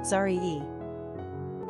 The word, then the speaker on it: Zariah: Pronunciation, Zariyah.